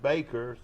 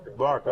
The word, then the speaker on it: Barker: And then a kid named Braxton Baker, 6'2", 202. Barker. Oh, I'm sorry. That's right. Look here, they say it's spelled wrong.